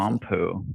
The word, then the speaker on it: Pampuch: Think of the palm of your hand and Winnie the Pooh. Beautiful. Palm Pooh.